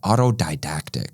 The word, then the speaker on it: autodidactic: Um, how do you say autodactic? Auto autodidactic. Didactic.